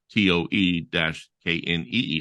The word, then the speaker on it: Toe-Knee: Tony, but he would spell it TOE-KNEE, like toe knee, like the body parts, I guess, so All right, Tony.